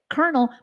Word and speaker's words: colonel: Colonel, but there's not a single R in that word.